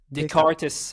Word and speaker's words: Descartes: Descartes. I'm not sure how to pronounce.